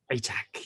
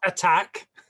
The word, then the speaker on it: Atack: Hi everyone, I'm Atack, and yet again I have the incredible pleasure of welcoming Karen de la Carrière. Hello. Atack. Atack, yes, not attack.